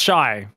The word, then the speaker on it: Xy: mean clearly that's true apparently xy is meant to be pronounced shy all right we can